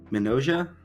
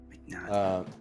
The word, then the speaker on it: Mignogna: But I want to talk about Vic how do you pronounce it? Mignogna? I How don't know the how to say his name. one sec. The voice actor for Broly. Vic Mignogna. Mignogna.